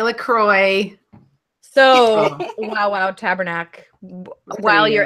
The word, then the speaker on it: LaCroix: Lacroix look why it should rhyme with enjoy enjoy Lacroix so Wow tabernac while